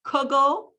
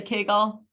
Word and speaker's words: kugel: many of you say kugel how many of you say kegel so it depends where